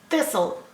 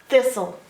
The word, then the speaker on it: thistle: a sound and then there's a silent E on the end okay so the E on the end doesn't make a sound okay and the T doesn't make a sound the is all thistle and we don't hear the T and we don't hear the e s o thistle oh